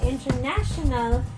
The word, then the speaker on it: international: other one is universe so international he should be on the third syllable while the universe is on the first syllable so just to make